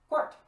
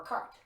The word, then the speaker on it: quarte: inside then we can call it quart or cart or quarter what that are different pronunciations that come across i like quark because it's q-u-a-r-t-e but also cart is pretty good as well uh feel free in